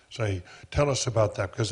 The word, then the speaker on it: Khaled Said: Khaled Said, is that the way we pronounce it? Khaled Said. Said.